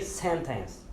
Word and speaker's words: sentence: Temos também a palavra, por exemplo, sentença, sentença em inglês, que é pronunciado senten, senten. Então nós não pronunciamos sentença, nós tiramos o T e colocamos um IN, senten, senten, ok? Sentence, sentence. Alright?